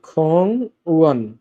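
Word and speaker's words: 공원: খং উয়ান উচ্চারণটা হবে খং উয়ান, খং ওয়ান পার্ক, খং ওয়ান পার্ক।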